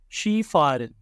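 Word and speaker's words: Skifahren: Centre جانا۔ لاؤفن، دوڑنا۔ شی فارن، سکن۔ نوٹ: تلفظ کے لحاظ سے یہ ایک استثنائی صورت ہے کہ ایس کے کی آواز کو شین کی طرح ادا کیا گیا ہے۔ ٹانسن، رقص۔ وانڈرن، ہائکنگ۔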